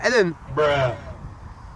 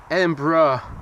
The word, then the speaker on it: Edinburgh: Arriving from Eden. Edinburgh.